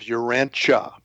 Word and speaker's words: Urantia: Um, we use the uh the pronunciation of Urancha.